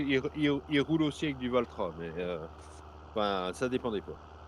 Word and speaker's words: Valtra: roule aussi avec du Valtra mais ça dépend des pas et pour une fois j'ai prononcé Valtra correctement parce que d'habit je dis plutôt valnouille mais j'avoue j'y reviens